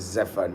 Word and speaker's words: zephyr: need to understand that pronunciation sometimes is different from the spellings. Now the spellings will look like Zephyr, but Zephyr is not Zephyr. We don't say it like Zephyr. It is Zephyr.